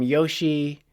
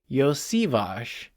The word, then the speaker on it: Iosivas: people are calling him Yoshi. And first of all, he's not. So people were like, oh, he must be Japanese. And he's not Japanese. And his name is not pronounced Yoshi. So it's Iosivas.